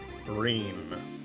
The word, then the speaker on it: Breen: Breen. And she's, you know it's pronounced that because she said it rhymes with clean.